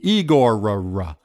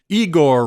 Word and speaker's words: Igorrr: week is igor igor that's right like stravinsky but three r's at the end igor i don't know if